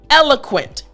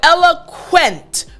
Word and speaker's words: eloquent: We have eloquent, right? So Q-U. Now for the Q sound, it really is basically the K, the letter K, and then a W attached when you have Q-U.